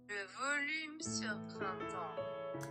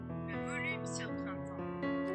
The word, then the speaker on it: Le Volume sur Printemps: But anyway, apparently, according to Google Translate, this is how you pronounce it. Oh, okay. Hold on. Le volume sur printemps. Yeah, I would not have said that correctly.